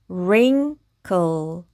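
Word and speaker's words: wrinkle: 그래서이 단어는 rinkle rinkle이라고 읽으시면 됩니다.이 링은 주름이라는 뜻이고요.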